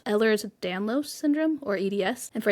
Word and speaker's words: Ehlers-Danlos: But then I found out that Rebecca Yarros herself suffers from, and forgive me if I mispronounce this, but I believe it's Ehlers-Danlos syndrome, or EDS.